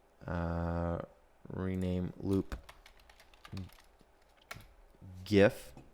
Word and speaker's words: GIF: one more time loop and i'm gonna have gif uh rename loop gif not jiff if it was uh if gif stands for